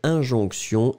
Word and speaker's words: injonction: Une injonction, I-N-G-O-N-C-T-I-O-N. Hein, souvenez-vous, T-I-O-N, c'est vraiment le sion, sion, sion qu'on va prononcer.